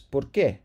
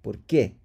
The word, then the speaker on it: por qué: Accent here, really pronounce that, and it's an accent because there's emphasis on it. It's a question. Why? ¿Por qué?